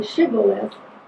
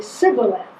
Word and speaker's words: shibboleth: And the first group could say shibboleth, the other group could only say sibboleth. So when they would want to cross the Jordan, they'd say shibboleth. Yeah. And if they said it right, they got across. If they said it wrong, they couldn't.